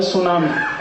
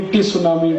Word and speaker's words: tsunami: अंग्रेजी में एक शब्द है सुनामी, कैसे लिखते हैं? TSUNAMI, बोलते क्यों नहीं टी सुनामी, टी सुनामी, टी सुनामी? कहते जी टी साइलेंट है, तो लगाया क्यों? हटा दो उसको।